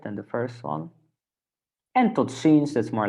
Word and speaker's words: tot ziens: Can you pronounce formal see you again? So that's, let me check. Formal see you. That's tot ziens.